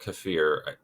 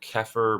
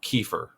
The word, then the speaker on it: kefir: So, kafir that some people call it um what do they call it? I call it kafir. I I've heard it keer, but like that's not a correct way to say it. Um there's another correct way to say it that I can't remember. Kefir, which I think sounds stupid. I don't like kefir. I think it sounds ridiculous, but that's okay if you say it that way.